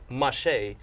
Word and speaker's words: Mache: Mache, like a mosh pit.